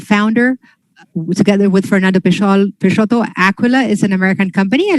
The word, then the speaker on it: Aquila: Well, the next company is Rodrigo, CEO of Aquila or Aquila? How do we pronounce it? Aquila.